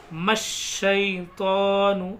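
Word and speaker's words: الشَّيْطَانُ: फ अज हु शैतानु म शैतानु देखिए मीम को डायरेक्ट श में मिलाएंगे तीन हर्फ नहीं पढ़े जाएंगे ये अलीिफ ये अलिफ और ये लाम तीनों साइलेंट रहेंगे फ अज हु शतानु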